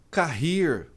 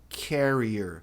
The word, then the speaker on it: carrier: process transportadora não é carir. O R em inglês não tem esse som de R, tem som de E a tônica não é na última sílaba. A pronúncia correta é carrier.